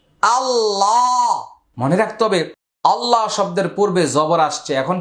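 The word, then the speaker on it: الله: হামজা লাম জবর আল লাম খারা জবর লা আল্লাহ মনে রাখতে হবে আল্লাহ শব্দের পূর্বে জবর আসছে। এখন কি হবে? আল্লাহ শব্দের লামটা মোটা হবে।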